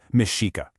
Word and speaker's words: Mexica: They were the Mexica. That's pronounced mishika.